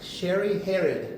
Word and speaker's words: Sherri Hered: So today we have a very truly inspiring guest, Sherri Hered. Is that how you pronounce it?